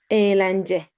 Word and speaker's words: eğlence: Eğlence, eğlence. See, we do not pronounce it.